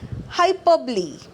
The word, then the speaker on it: hyperbole: of speech which is hyperbole so this is pronounced as hyperbole hyperbole is an exaggerated statement what does an